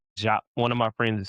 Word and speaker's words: Diop: pronounced Jakh. One of my friends is Senegalese. It's pronounced Jakh.